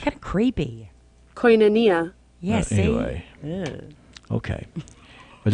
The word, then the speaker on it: Koinonia: Koinonia.